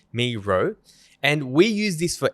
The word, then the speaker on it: Miro: Miro. Yeah. Okay. So the tool is called Miro, not Miro. We're calling it Miro. It's called Miro, and we use this for everything.